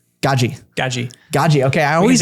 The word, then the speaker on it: Gadzhi: yes how do you say his last name gaji gaji gaji gaji okay I always I always mess